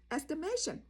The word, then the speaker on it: estimation: Estimate អានឹងគឺថាប៉ាន់ស្មានឥឡូវពាក្យទី7ឥឡូវយើងប្រើយកពាក្យហ្នឹងយកមកប្រើវាជានាមជា noun ឥឡូវពាក្យហ្នឹងវាកើតជា estimation okay estimation ប៉ុន្តែជួនណាអា lip ហ្នឹងវាចេញបងប្អូនវាអត់លឺ estimation st ព្យាង្គទី2វាអត់សូវលឺទេបងប្អូន estimation ហ្នឹងវាអត់សូវលឺទេ estimation បងប្អូនពេលយើងនិយាយក្នុងភាសាអង់គ្លេសជួនណា pronunciation ព្យាង្គខ្លះវាបាត់វាអត់លឺទេវាលាក់បងប្អូនវាអត់លឺទេអានេះហើយពាក្យនេះមួយដែរestimation what is your estimation បើសិនតែគេប៉ាន់ស្មានថាដំបូលហ្នឹងប្រហែលគេប៉ាន់ស្មានទៅផែលអស់$30,000 okay